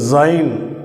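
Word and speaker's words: זין: அடுத்த எழுத்து சைன் அப்படின்னு உச்சரிக்கிறோம்.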